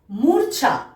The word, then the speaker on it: মূর্ছা: ময় দীর্ঘ ছয় রেফ আকার, মূর্ছা, মূর্ছা। এখানেও কিন্তু ছয়ের মাথায় যেহেতু রেফ রয়েছে, তাই তার আগে র উচ্চারণ হলো।